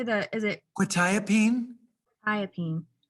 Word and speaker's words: quetiapine: Is it Quetiapine? thiopine? Quetiapine, yeah.